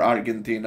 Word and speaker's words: Argentina: Now, of course, he was brought up in Argentina, or Argentina, of course, as the Latinos will pronounce it, possibly, you know.